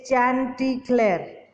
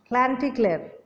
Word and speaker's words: Chanticleer: Now, how do we pronounce it? It is Chanticleer, but we don't say Chanty, we say Cla. Like Chanticleer, with a host of hens and other animals in a yard.